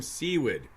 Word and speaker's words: Tom Seawood: Sure it's Tom Seawood. Seawood? Yeah. Right. Okay. I wasn't sure. I knew the Seawood. That's it. The pronunciation. So, but I think it was because Wes Germer pronounced it Seward. Yeah, so I did it first too, but yeah, I remember now after the second interview, it's Seawood. Right.